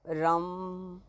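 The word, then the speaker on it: रं: तो आप जब इसकी साधना करें तो इसका उच्चारण आप रम रम धीरे-धीरे भी कर सकते हैं और बहुत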